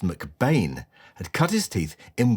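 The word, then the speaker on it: McBean: Welsh photographer Angus MacBean, actually pronounced McBain, had cut his teeth in West End theatres in the early 1930s.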